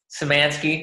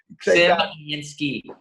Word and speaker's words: Simansky: Simansky. That was close. That was close, like semantics. I got it. I can't believe it. You want to try that over? Simansky.